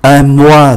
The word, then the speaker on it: mois: Kế tiếp, ký tự S khi nằm ở cuối từ cũng không phát âm. Un mois là một tháng, le bois là gỗ, là cái chất bằng gỗ, bằng cây.